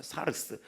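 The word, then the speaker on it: σάρξ: 내 육체에 가시할 때는 사르륵스라는 거예요. 사스. 사르스라고 읽을 수 있어. 사르스. 어, 사르스.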